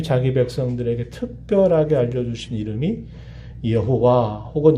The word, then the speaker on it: 여호와: 하나님이 약속하신 그 말씀에 관해서는 반드시 그 약속을 실현하신다라고 하는 것을 보증하시기 위해서 하나님 자기 백성들에게 특별하게 알려주신 이름이 여호와 혹은 이 말을 다른 말로는 야훼라고도 불러요.